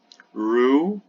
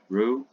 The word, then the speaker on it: Roux: Roux, it's the French pronunciation, Roux, and CFOEP or CFOP, also called Friedrich method.